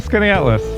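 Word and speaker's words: Skaneateles: Welcome to Skinny Atlas. Skinny Atlas?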